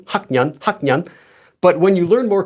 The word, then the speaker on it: 학년: You'd have to say 학년, 학년, 학년.